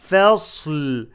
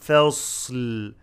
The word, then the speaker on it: فصل: إنه لقول فصل. فا not فا. فصل make the فا light and صاد heavy. فص فصل show the لام when you stop without قلقلة.